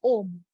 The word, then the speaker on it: Om: It is a combination of Brahma, Vishnu, Mahesh, but it is still pronounced as Om only.